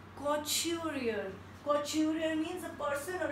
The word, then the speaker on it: couturier: Next is couturier and we pronounce it like couturier. We pronounce it like couturier.